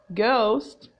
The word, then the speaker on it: ghost: and when I say ghost ghost ghost ghost the H is silent all right sometimes I